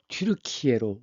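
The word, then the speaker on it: Türkiye: 근데 이제 터키인데이 서양에서는 우리는 터키라고 하지만 서양에서는 트루크라고 했는데 지금이 나라 이름은 튜르키에로 원래 돌골의 발음대로 바뀌었습니다. 그래서 나라 이름이 터키 아니라 튜리키에다 셀즈크트루크가 등장합니다.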